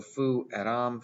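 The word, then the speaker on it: fueram: So fu eram, fu eras, fu erat, fu eramos, fu eratis, fu erant. Notice a short E right here.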